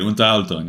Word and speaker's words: Unterhaltung: Unterhaltung.